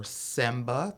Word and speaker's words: semba: basic rhythms in angola that were created were semba that's spelled s-e-m-b-a zomba k-i-z-o-m-b-a and caduro k-u-d-u the